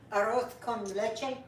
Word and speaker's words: Arroz con leche: Arroz con leche.